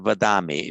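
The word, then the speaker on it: वदामि: However, remember for the ami ending, and be careful to make it the long ah. So nacha smarami, nacha vadami.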